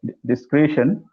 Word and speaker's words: discretion: Yeah, discretion. Yes, use that word. If I can ask you to pronounce that again, it's discretion.